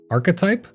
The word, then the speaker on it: archetype: arch type alone, but they pronounce it arype. Archetype. Oh, I get it. Archetype like architect.